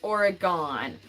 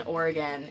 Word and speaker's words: Oregon: it is not pronounced Oregon that's a big pet peeve of people who live in Oregon it's pronounced Oregon like you have organs in your body it's the same pronunciation